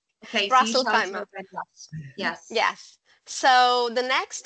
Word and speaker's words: Ras Al Khaimah: Ras Al Khaimah.